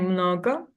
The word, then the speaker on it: mnogo: And mnogo, it's on no. Mnogo. Yeah, on the first syllable.